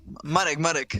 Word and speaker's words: Marek: I know you love to call him Marcin Brasta, right? Marek. Marek Brasta.